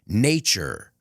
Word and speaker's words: nature: careful with the pronunciation nature remember the t plus the U is nature future creature statue situation that's the hardest one and it's